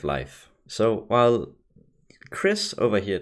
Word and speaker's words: Leif: The correct way to pronounce his name would be Leif Erikson, so enjoy me saying Leif instead of Leif.